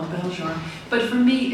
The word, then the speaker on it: Belzhar: at the end so this book belar which some people pronounce belar which is fine but I'll answer to